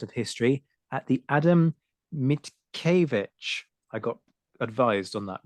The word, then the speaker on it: Mickiewicz: He's a PhD student at the Department of History at the Adam Mickiewicz. I got advised on that pronunciation before we started.